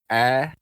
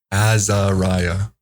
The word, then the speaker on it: AzariYAH: I've been saying long A, and I'm hoping I'm saying that right. So it's AzariYAH. AzariYAH. It sounds so much easier. AzariYAH.